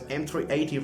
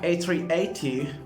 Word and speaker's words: A380: they have their pro they pronounce it as m380 rather than pronouncing it as uh a380 that's totally ridiculous anyway